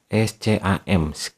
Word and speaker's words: scam: Di kolom Inggris kalian ketik scam, SCAM, secam ya, secam ditulisnya ya, dibacanya scam, SCAM.